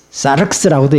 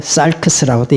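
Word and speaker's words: σάρξ: 그 다음에 헬라어는 사르크스라고도 얘기하고 살크스라고도 얘기하는데 크스 발음이 있기 때문에 살크스.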